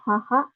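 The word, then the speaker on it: 母: Kita lanjut lagi, ini ada haha atau ibu ya. Untuk cara bacanya ada haha sama bu.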